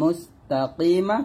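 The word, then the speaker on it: المستقيم: এখানে কফ উচ্চারণটা যেন ভুল না হয়, কফটা একটু সুন্দর করে ক্লিয়ার করে বলবেন, কাফ যেন না হয়ে যায়।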